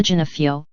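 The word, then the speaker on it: Gionoffrio: Teresa Genefio, he said. He pronounced it as an Italian would.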